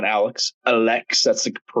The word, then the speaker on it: Alex Pereira: T him and Alex uh sorry Alex not Alex Alex that's the correct way to pronounce it I learned that recently uh he